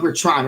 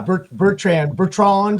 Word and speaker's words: Betrand: Betrand, right? Betrand, right? That's how you pronounce it? Yeah, Bertrand, if you're French, yeah.